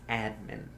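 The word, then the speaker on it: atman: but the word for it is pronounced admin.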